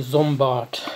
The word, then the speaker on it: Sombart: we looked at was sombat or if i pronounce it in a proper german wave probably it would be zombot um so zombot um